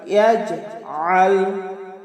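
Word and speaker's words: يَجْعَلْ: আইন হলকের মধ্যখান থেকে একটু চাপ দিয়ে আমরা উচ্চারণ করব।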